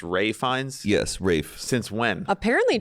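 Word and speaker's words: Ralph Fiennes: that guy's name is Ralph findes but it's pronounced Ray fines yes Ray since when apparently Chelsea hler and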